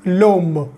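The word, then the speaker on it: l'homme: and Silent Edge and here H is what H is silent that's why we are putting l apostrophe so it becomes loam that means the man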